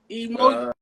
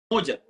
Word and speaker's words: Umoja: Umoja.